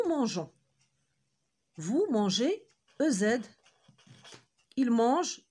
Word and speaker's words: mangeons: Pour avoir le son je. Parce qu'enfin, E adoucit la lettre G. Et ça nous permet d'avoir une bonne ou une prononciation parfaite. On doit ajouter un E entre G et O. Et le verbe devient nous mangeons.